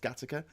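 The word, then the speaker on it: Gattaca: and sort that out gataka in Liverpool says Vision thing yeah that's it's because it's gay AKA but it's pronounced gataka but when I see it I just think gataka because of grown up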